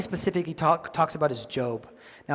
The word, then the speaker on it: Job: those who have persevered you have heard of job's perseverance and have seen what the lord finally